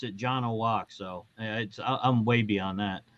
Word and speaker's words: Janowiak: my high school yearbook literally says no, you pronounce it Janowiak.